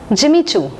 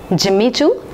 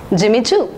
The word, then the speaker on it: Jimmy Choo: It is pronounced as Jimmy Choo. Jimmy Choo. It should not be pronounced as Jimmy Choo. It's Jimmy. Jimmy Choo.